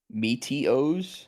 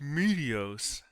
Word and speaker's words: Meteos: it's uzi meteos yo they say my name right meteos meteos do you potential bug